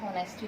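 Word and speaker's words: honesty: MP4 एचडी में है और एक्टिव होता है होनेस्टी नहीं होता है ऐड साइलेंट होता है और इस पावडर किया और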